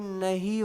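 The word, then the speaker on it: know: मतलब होता है जानना इसका जो के है ना के इसको ना साइलेंट रख देते हैं इसको बोला नहीं जाता ये नो बोला जाता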